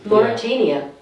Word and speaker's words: Mauritania: Mauritania.